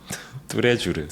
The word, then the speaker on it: 뚜레쥬르: Oh, tous les jours. Okay. Yeah, it's a French word. What's the Korean pronunciation of tous les jours? 뚜레쥬르.